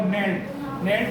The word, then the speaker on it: knelt: in the poem there is a word for knelt में कौन सा वाला साइलेंट वर्ड है, के, जो शब्द बोलने में ना आए वो साइलेंट, समझ गए।